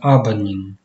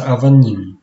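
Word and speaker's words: אבנים: сыновья по-еврейски баним а камне пишется абанин произносится авани фразы построенные на игре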